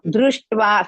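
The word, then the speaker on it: दृष्ट्वा: So, dru is risva. Shta is half. Ta is half. That is ta. Tva. Va is dirgha. Ta is also half.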